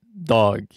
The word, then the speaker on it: Doeg: E o nome dele era Doeg, o Edemonita. Doeg. A pronúncia pode ser dog, como de cachorro.